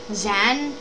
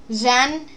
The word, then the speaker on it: Xan: We are going to be reviewing the playable NPC Zan. I think that's how you pronounce it. It's like An or Zan or and xylophone starts with an X. So I'm taking a guess it's Zan.